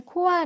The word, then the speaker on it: Caux: 네, 코가 이제 네.